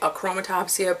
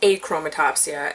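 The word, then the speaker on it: achromatopsia: have a chroma topsia I have been pronouncing it a chroma topsia pretty much my entire life but I learned recently that it's eight chroma topsia and I'm kind of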